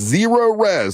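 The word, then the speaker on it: Cerorez: It's Zero Res. Now it's spelled the same way forwards and backwards. It's spelled C-E-R-O-R-E-Z.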